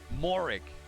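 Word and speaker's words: Moehrig: Trayvon Morik. Pronouncing it correctly. Apparently. Not the European way of saying it, but he wants it said that way, so we're going to say it.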